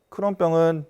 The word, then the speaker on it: 크론: 그 크론 씨라는 사람이 1930년도에 처음 이 병을 갖다 보고를 했기 때문에 그 이후로 크론병이라고 이름을 붙이고 있고, 우리나라 사람들은 이제 클론이라든가 또는 크롱으로 이렇게 또 잘못 발음하는 경우도 있긴 합니다만 사람 이름입니다.